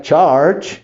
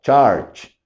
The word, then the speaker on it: charge: misma cantidad de sílabas charge es un solo sonido muchos estudiantes me han dicho no haces dos dices char no es parte del mismo sonido es charge Y entonces por eso